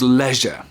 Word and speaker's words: leisure: In in British English, it is pronounced leisure. Leisure. In American English, leisure. Leisure. Um, be aware that the the the S is pronounced, which is not really logical, but that's the way it is.